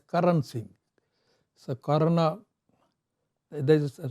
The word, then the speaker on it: Karan Singh: So this connection, the name Karna Singh is, they pronounce it as Karan Singh.